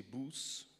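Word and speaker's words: Boès: tous deux avec Carles Boess à prononcer Bus. Enfin, il s'appelait Charles Potier. En fait, c'est un nom d'emprunt mais Boes, on le prononce Bus comme par Nabous.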